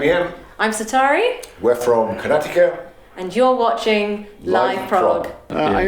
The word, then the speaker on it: Karnataka: I say it Karnataka. Okay. Karnataka. I think it's pronounced like that. I'm pretty sure.